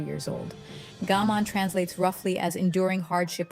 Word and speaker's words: gaman: It is called gaman, pronounced gaman.